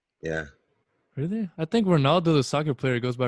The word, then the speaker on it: Ronaldo: uh h sound huh ronaldo yeah really i think ronaldo the soccer player goes by ronaldo though i mean you might pronounce it that way but they pronounce it with a h sound yeah i got you